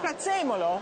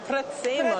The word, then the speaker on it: prezzemolo: Prezzemolo. Prezzemolo.